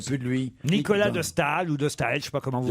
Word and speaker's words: Nicolas de Staël: est un français oui c'est pas nicolas stahel vous allez devoir de s'assurer que ce soit nicolas de staël un tricheur non mais